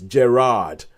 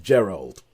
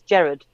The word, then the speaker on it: Gerard: PS his name is Gerard not Gerald yeah so so that's us to all apparently his name is Gerard Butler not Gerald Butler I think you pronounced it the Scottish way which is Jared you Jared Jared Jared